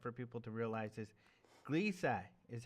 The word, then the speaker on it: Gliese: which is important for people to realize, is Gliese is how you say this, right? From what I've been able to determine, Gliese is the pronunciation.